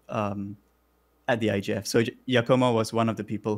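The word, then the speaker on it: Giacomo: um so like it's it's spelled g-i-a-c-o-m-o but so it's pronounced with a y so it's a yakoma oh yeah okay so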